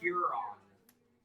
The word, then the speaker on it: Huron: Is it, how would you pronounce it again? Huron. Huron.